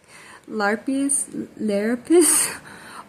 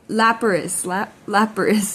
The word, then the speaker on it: Lapras: Larapis. Oh, I was just saying this earlier today. I'm so sorry. I might have smoked a little flower, so I apologize for my mispronunciation. Lapras.